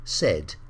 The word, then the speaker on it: said: is exactly the same as paid but it's pronounced differently because we say said say said now the next group get the